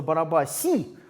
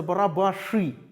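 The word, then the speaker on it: Barabási: и значит одного зовут вот если вы прочитаете это но мы какой-то условный латинский манер то у вас наверно получится бараба sim но он читается барабаш и барабаш и такая довольно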